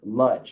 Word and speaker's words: Lodz: So they wrote it with a lamed, which is pronounced Lodz. And I've spoken to people from the Lodz Ghetto survivors, people who are descendants of Lodz Ghetto survivors, and they say that they said it with an L sound.